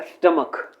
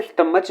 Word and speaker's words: stomach: Next word है स्टमक। स्टमक कई इसे स्टमच बोलते हैं, प्रोनाउंस कर रहे होते हैं, जो कि इनकरेक्ट प्रोनाउंसिएशन है। इसका जो सही प्रोनाउंसिएशन है वो है स्टमक।